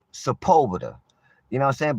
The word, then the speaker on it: Sepulveda: I don't know what you be saying, Sepulveda, but baby, it's pronounced Sepulveda.